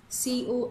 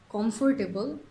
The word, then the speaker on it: comfortable: So our first word is comfortable, jeta ke onekei bole comfortable, kintu eta actually comfortable. Similar ekta ache vegetable, jeta ke onekei bole vegetable, but it's vegetable, vegetable.